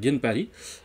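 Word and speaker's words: Ginparis: à chansons qui s'appelle Ginpari, Ginpari, on ne prononce pas le S.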